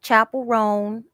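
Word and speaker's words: Chappell Roan: put it down because you got people like Chapel rone did I pronounce her name right yes you got people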